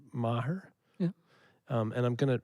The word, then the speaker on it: Maher: The character, and again, I'm going to ask about pronouncing his name, Maher.